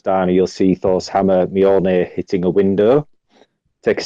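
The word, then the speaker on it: Mjölnir: Thor's hammer, which I really don't know how to pronounce, but this is something I did look up just so I got it right, is Mjolnir.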